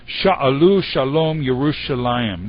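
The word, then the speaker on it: שאלו שלום ירושלים: Interestingly, in Hebrew, the way this is pronounced, pray for the peace of Jerusalem, is Sha'alu Shalom Yerushalayim. This is beautiful Hebrew poetry.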